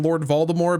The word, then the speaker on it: Voldemort: Also, I keep saying Lord Voldemort because that's how it's pronounced in the audiobook series and the books. I typically say Voldemort, it's because that's what the movies portrayed, but I do believe it is supposed to be Voldemort.